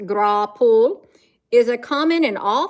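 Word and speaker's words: graupel: Grapple, pronounced grapple, is a common in all thunderstorms, and it's almost always, it melts before it hits the ground.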